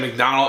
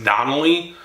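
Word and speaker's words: Darnold: I said McDonald. It's Donnelly.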